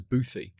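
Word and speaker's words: bothy: B O T H Y, but I've always heard pronounced as Boothy.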